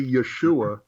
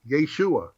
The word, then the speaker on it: Yeshu: The ayin when spelled would be there, but it wouldn't be pronounced.